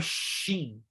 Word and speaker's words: shin: No hebraico, então, como a transliteração no português é sim, mas no hebraico é shin. No português, a transliteração é zin, mas se pronuncia tsim, ou tzin, tzin, que é mais complicado, porque é a letra tzadê.